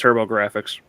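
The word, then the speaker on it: TurboGrafx: I'm not sure I can pronounce this right. Turbo GFX PC. Yeah, basically, it's Turbo Graphics.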